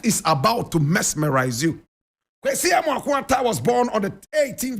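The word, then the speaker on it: Kwesi Amoako-Atta: Kwesi Amwakun Ata.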